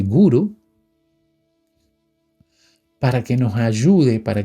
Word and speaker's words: guru: Y naturalmente, en la India, por ejemplo, uno busca un gurú, que no se dice gurú, se dice guru, para que nos ayude, para que nos enseñe cómo desenvolver estas cualidades.